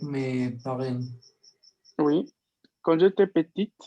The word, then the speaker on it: petite: Quand j'étais petite, en este caso vamos a pronunciar la T, porque tenemos acá el femenino.